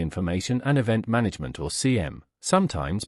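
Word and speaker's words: SIEM: like a security information and event management or CM sometimes pronounced CM system what happens is we can configure our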